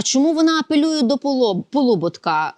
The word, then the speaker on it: Полуботка: вона апелює до по Полуботка наголос саме такий правильний Хоч він комусь може здаватися дивним тому що його прадід